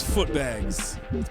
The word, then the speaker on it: Footbags: here yo what's good my name is foot bags pronounced with the book bags and I do this